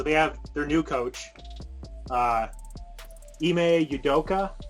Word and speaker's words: Ime Udoka: So they have their new coach, Ime Udoka, I think is how you say his name.